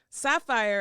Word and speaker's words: Saphyre: And now I'll pronounce it sapphire to make it slightly different.